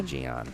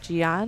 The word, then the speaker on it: Gian: I feel like the J is silent here. No, we're going to say Gian. Gian.